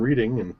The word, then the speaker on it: Reading: It's like, you've come around, I'll just take your go money because you landed on Reading or Reading. I think it's supposed to be pronounced Reading, but there you go.